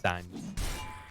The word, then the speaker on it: Sange: telling me that it's not Sange, it's Sange. We won't talk about that. That was, I think I explained that to you. That was we used to take the mick out of someone who mispronounced it by saying Sange, and eventually we all found ourselves saying it as well.